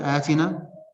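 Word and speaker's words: Aatinaa: One of them is called Atina. Atina is spelled A-A-T-I-N-A-A.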